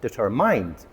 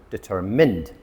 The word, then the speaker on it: determined: But when you look at it, it has mind in the middle. A lot of people pronounce it determined, but it's actually determined.